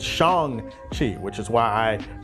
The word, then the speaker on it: Shang-Chi: The story for this movie is that Simu Liu plays Shang-Chi, who is a martial arts prodigy who is